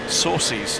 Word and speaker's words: Saucy: The messages from their camper in Florence, Italy, to criticise your pronunciation of Gregoire Saucy's name. Saucy? Yep. Oh, well, that's a bit saucy, isn't it?